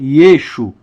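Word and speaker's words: ישו: Yeshua o nosso Maia no aramaico a letra a final ela não é pronunciada então na região da Galileia Yeshua era chamado de yesu ou yesu e e até hoje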